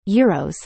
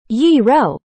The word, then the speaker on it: gyro: There's an ongoing debate about how to pronounce gyros. Some say gyro, while others prefer gyro. Both pronunciations are widely accepted, but it can be